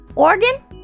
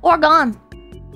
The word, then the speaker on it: Oregon: Oregon? People call it Oregon. It's not Oregon. It's Oregon. It's Oregon!